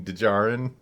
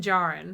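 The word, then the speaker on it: Djarin: you're pronouncing it but why put the D there at all if if you're supposed to ignore it well you really aren't if the sound is in there it's just hard to it's a very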